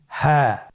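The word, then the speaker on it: هاء: হ্যাঁ হা হরফটি উচ্চারণ ক্ষেত্রে অবশ্যই বারিক হবে এবং 1 আলিফ টেনে পড়তে হবে। আপনারা আমার সাথে বলুন হ্যাঁ। হ্যাঁ হরফটি উচ্চারণের স্থান কণ্ঠনালীর শুরু হতে, অথবা আমরা যদি আরবিতে বলি হলকের শুরু হতে এই হরফটি উচ্চারিত হয়।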